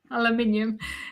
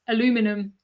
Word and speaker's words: aluminium: Aluminium. Yeah, we say aluminium, not aluminum. Aluminium.